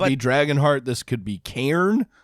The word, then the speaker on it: Cairn: This could be Cairn.